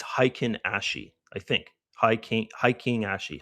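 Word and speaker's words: Heikin-ashi: I know I totally I totally say it wrong. I should say that in the in the uh course because I say hentakiashi all the time. And uh yeah, hiken hikenashi candle is how you say it.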